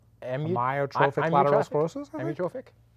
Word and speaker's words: amyotrophic: I think you enunciated the first one a little too long. So it's not Amyotrophic lateral sclerosis. Amyotrophic? Amyotrophic. Do I like to do it like an I? Amyotrophic lateral sclerosis.